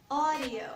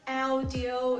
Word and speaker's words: audio: This word will be pronounced as audio. So it's not audio, it's not audio, it's audio.